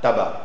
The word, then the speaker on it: tabac: lac lac tabac tabac tabac là le C c'est une exception ça ne seit pas mais c'est va sac l'AC tabac bon je ne veux